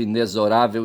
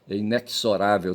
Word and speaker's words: inexorável: A inexorável, o x ali tem som de zo, tá certo? Inesorável e não só inexorável, tá certo?